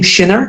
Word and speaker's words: Schinner: is camela Cam tell me your family name Shiner am I pronouncing it correctly sh okay perfect because I